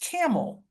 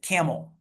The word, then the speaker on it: Campbell: Um, just east of Youngstown is a a city and it's called it's pronounced Camel. It is spelled like the Campbell soup can. Campbell, but the people there actually pronounce it Camel.